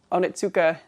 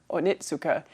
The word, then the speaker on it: Onitsuka: cable knit sweater my onitsuka onitsuka inact shoes um I've heard that apparently for the real Japanese pronunciation it's more onitsuka rather than onitsuka so I'm trying that out hopefully I'm correct about that and I'm not just